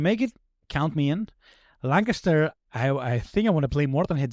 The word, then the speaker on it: Lancaster: Um Oh, man, I can't pronounce the game. Lan- Lan- Lanchester. Lancaster.